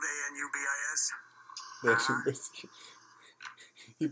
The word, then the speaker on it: Anubis: The Anubis. You pronounced it wrong.